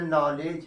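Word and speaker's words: knowledge: अब यहीं से के एन ओ डब्ल्यू एल ई डी जी ई की बात की जाती है, इसको हम लोग के को नहीं पढ़ते, उच्चारण यहाँ करते हैं, कहते हैं नॉलेज है। क्या लिखा गया है, नॉलेज, नॉलेज। ऐसे ही के एन आई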